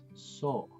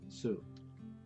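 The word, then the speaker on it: そ: You pronounce it as so. No, it's not su.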